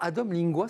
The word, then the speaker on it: Adom Lingua: Parce qu'on hésite à dire lingua et vous me dites c'est lingua. Non, c'est parfait, vous l'avez bien prononcé. Adom Lingua, c'est déjà un peu plus sympathique qu'Adom Linga, mais surtout, ça veut dire,